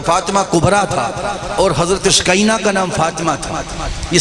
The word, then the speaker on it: سکینہ: سے سکینہ کہتے تھے۔ ہم اردو میں یا پنجابی میں سکینہ بولتے ہیں، لیکن عربی میں صحیح تلفظ سکینہ ہے، سکینہ یعنی سکون اور